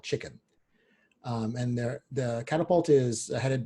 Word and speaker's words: CHKN: Chicken in this case is CHKN, and that's how it's spelled.